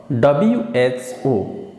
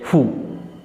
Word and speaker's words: WHO: she works for the WHO. Not we cannot say who. She works for the who. We cannot say. We can say it. She works for the WHO. And here WHO is pronounced separately.